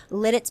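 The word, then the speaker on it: Lititz: And that one's exciting because never pronounced it that way growing up. I had a different way of pronouncing it. How did you pronounce it? Littitz. Of course. But Lidditz, I never heard it pronounced that way.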